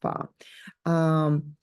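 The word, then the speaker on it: 发: But it's also considered lucky in many cultures, especially in Chinese culture, because its pronunciation is similar to word prosper or wealth, yeah, pronounced fa.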